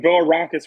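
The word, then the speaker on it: Bilirakis: But that is from, my gosh, I can't pronounce half of these congressmen's names anymore. Congressman Bill Arakis would be another vote in favor of Jim Jordan.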